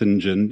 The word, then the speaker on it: St John: St John spelled or spelled St John but pronounced s Jen in in the Anglican style my my my